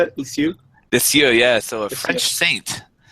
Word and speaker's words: Lisieux: It's Licieux. Is that how you say it? Lisieux? Lisieux, yeah.